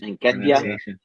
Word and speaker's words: Nketiah: Edward Nikeda, is that right? Nketiah.